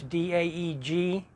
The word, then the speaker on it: Daeg: Recently I changed everything, so it's under Daeg, and that's D-A-E-G, but it's pronounced Daeg, because I wanted to use that name.